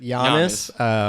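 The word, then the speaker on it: Giannis: how do you wait how do you pronounce it Yannis like Euro you know oh fair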